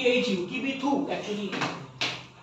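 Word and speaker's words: Kibithu: গুয়ার মতি in Gujarat eastern most point লেখো কিবিতু in Arunachal Pradesh eastern most point লেখো কিবিতু in Arunachal Pradesh K আই বি আই টি এইচ ইউ কিবি থু actually প্রোনাউন্সিয়েশনটা হওয়া উচিত স্যার এই 180 টা যা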